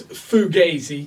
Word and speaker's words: Fugazi: But the slang dictionary tells us it's Fugazi.